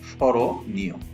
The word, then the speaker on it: স্মরণীয়: ৩ number নিয়ম, রস্বই দীর্ঘইকার এবং একারের পরে অন্তস্থ অ এলে সেই অন্তস্থ অ এর অকার ওকার রূপে উচ্চারিত হয়। এখানে খেয়াল করো, এখানে দীর্ঘইকার আছে, এই যে দীর্ঘইকারের প্রভাবে অন্তস্থ অ এর সাথে থাকা যে অ আছে সেই অটি এখানে এসে ওকার রূপে উচ্চারিত হয়েছে। এই জন্য উচ্চারণটি হচ্ছে স্মরণীয়।